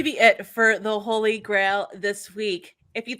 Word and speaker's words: GrAHL: over on Twitter at the Holy Grail you know how it's spelled g-r-a-h-l you can also check